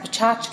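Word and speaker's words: PechaKucha: this last semester the pachucha pachucha sometimes pronounced pachka in English is a Japanese word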